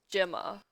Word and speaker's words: Gemma: Also, the pronunciation for Gemma Chan is Gemma.